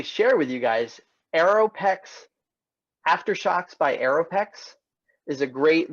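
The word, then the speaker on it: Aftershokz: and then this again it's aftershocks it's aftershocks it's spelled Elizabeth a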